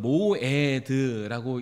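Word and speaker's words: מועד: 그리고 맨 마지막에 있는 어 44절에도 주의 명절이라는 단어가 기록이 되고 있습니다.이 반복해서 등장하고 있는 주의 명절이라는이 단어가 히브리어로는 모에드라고 읽습니다.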